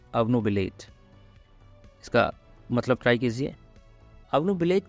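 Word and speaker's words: obnubilate: इस शब्द का प्रोनाउंसिएशन थोड़ा सा अलग है, ओ क्यों हम अ पढ़ते हैं, अवनुबिलेट।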